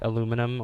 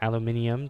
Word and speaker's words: aluminium: Alumina, or like aluminum or aluminium, depending on how you want to pronounce it.